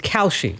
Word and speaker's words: Kalshi: Yes, and it's Kalshi. Yeah. Okay, I didn't know how to pronounce it, obviously.